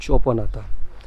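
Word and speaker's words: Cholpon-Ata: मैं तुहानू स्पैलिंग दसदा, CHOL चोल PON पौन फिर ऐ डंडी ते ATA आटा, चौल पौन आटा। सो ये बनते हैं वैसे तो, बट ये जो प्रोनाउंस करते हैं उन्होंने चोपन आता।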